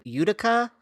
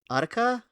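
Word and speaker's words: Utica: that recently happened in Udica, Michigan. Yeah. Udica. Udica. Udica. I mean, there's one in New York also, and they pronounce it Udica.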